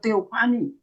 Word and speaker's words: teofani: Kemudian ada deskriptif, itu tentang teofani. Nah, tadi saya singgung ya, Hakim-Hakim pasal 2 itu teofani. Teofani ya, tulisan teofani tapi bacanya PH itu kan baca F ya.